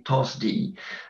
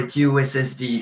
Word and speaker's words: TOSSD: And you see here in this nice infographic that you should pronounce simply TOSSD. You can also go for TOSSD if you want, but that sounds a lot more threatening. So TOSSD is better.